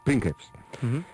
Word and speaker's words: princeps: denominaban preps en latín el otro día decíamos princeps pero pronunciándose bien sería prins eran conocidos esta tribu